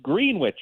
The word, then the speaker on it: Greenwich: They pronounce it green witch.